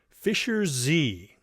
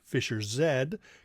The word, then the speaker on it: Fischer-Z: name is actually pronounced Fischer-Z cuz they used the British pronunciation of the letter z zed.